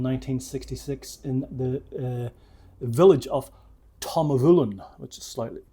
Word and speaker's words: Tamnavulin: I mean, Tamnavulin, it doesn't have the big name of Macallan, Glenfiddich, Glenlivet.